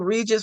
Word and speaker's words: Regis: This reminds me of Regis, rhymes with Jesus.